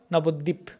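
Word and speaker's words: নবদ্বীপ: See, dvip, the the and ba, dvip, nabodvip. But in Bengali, you say dip, nabodip, dip. We actually, this ba is not that pronounced.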